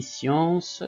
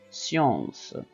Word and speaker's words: science: Ici, science, ça s'écrit avec S et C en même temps, mais on entend S. Science, et non pas science ou science. Non, c'est science.